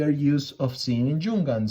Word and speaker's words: Junghans: use of seeing in jungan so jungkans or jung hans if we want to to pronounce it in another way it's it's a brand